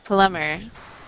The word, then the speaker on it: plumber: the B is silent the B is silent in that word so it's plumber a plumber mhm yeah